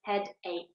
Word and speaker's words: headache: But in this case, the ch is not a ch sound, the ch is k. So we pronounce this headache.